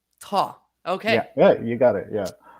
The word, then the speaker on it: Thoj: It does not sound like how it's spelled. It's actually pronounced Thoj. Thoj.